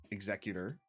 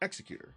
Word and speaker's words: executor: The executor you can pronounce two different ways: the executor or executor, right?